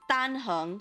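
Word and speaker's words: Dan Heng: Yes, it's tanhung. So the tan, the da n is flat sounding. The hung is you have to make your voice go upward.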